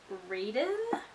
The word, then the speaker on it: Raiden: God so invested and one of the guys' names is Raiden which rhymes with Zaden which is so funny